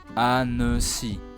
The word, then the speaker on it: Annecy: Well, if you remember correctly, when the letter C is followed by the vowels E, I, or Y, it must be pronounced S as an S, similar to English. Last, at the end of a word, the letter Y sounds like an E if you remember, so that gives annecy.